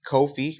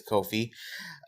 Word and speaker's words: Ko-fi: So it's Ko-fi or Coffee, however you want to pronounce it, but I do believe it's Ko-fi at Slash and Sync.